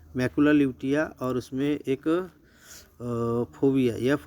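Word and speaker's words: fovea: क्या कहते हैं बेटा, इसको फोबिया कहते हैं, लोविया नहीं, फोबिया ये करेक्ट वर्ड है, लोविया नहीं होना, ठीक है।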